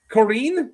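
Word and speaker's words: Qoren: Corin. Yeah. A long e.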